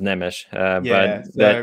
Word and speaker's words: Nemes: um names yeah yeah my last name looks like it would be pronounced neems it's actually pronounced nemish everybody always thinks that